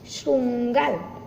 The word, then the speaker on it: श्रृंगाल: सियार का दूसरा नाम है गीदड़ या श्रृंगाल, उच्चारण ऐसा होगा, श्रृंगाल, ओके।